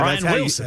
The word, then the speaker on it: Brian Wilson: That's his name, Yeah, Brian Wilson. That's how you say it. Yeah, how do you insert a T in there somehow?